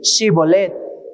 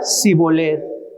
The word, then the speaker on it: Shibolet: Entonces le decían: ahora pues di Shibolet. Y él decía Sibolet, porque no podía pronunciarlo correctamente. Entonces le echaban en mano